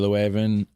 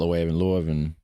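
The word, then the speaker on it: Leuven: I can show you leeaven not leavenven Brussels or saxophone city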